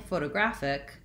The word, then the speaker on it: photographic: So when I'm saying photographic, I again have a different syllable stress. So photographic follows a little bit more closely with my photo and graph.